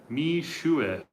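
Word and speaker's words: Mixue: Mishue. Oh, that's how you say it, Mishue.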